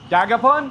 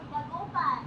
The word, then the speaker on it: Dagupan: I'm on my way to Dagapon. What? Dagapon. Dagupan. Dagupon. Is that how you say it? Dagupon. Oh, I've been mispronouncing it.